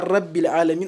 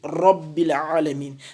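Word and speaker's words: رَبِّ: C'est-à-dire, au lieu de dire ra, comme les gens ont l'habitude de le dire, en arabe, quand la lettre ra porte un fataha, elle se prononce ra. On ne dit pas Rabbil Alamin, on dit Rabbil Alamin.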